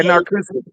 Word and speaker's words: Narcoossee: But yeah, there actually is a place off 528 and Narcoossee Road, LDG, if I'm saying it right. What are you saying, right? Narcoossee Road. If you were on Yeah, Narcoossee. 528 Yeah, Narcoossee.